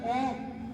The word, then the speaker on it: ओम: हमारे शरीर के अंदर ओम ती से बना हुआ अ ओ और म उच्चारण ओ का उच्चारण अंदर